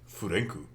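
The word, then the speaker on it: フランク: All right, one, the man's Japanese name is Frank, or if you want the the authentic pronunciation, Furenku, which I think fits him a bit more.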